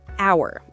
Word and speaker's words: hour: The H in hour is silent.